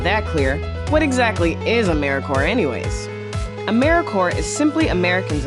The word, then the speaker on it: AmeriCorps: with a silent piece so think of Apple core or core of the earth now that we have that clear what exactly is AmeriCorps anyways AmeriCorps is simply